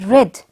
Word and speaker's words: read: past form is this is read and the past form is red pronunciation is that was